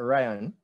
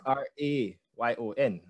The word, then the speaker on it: Rayon: I am Rayon, not Rayon. Most persons, they would spell it R-Y-A-N, but mine is R-A-Y-O-N, so it's Rayon.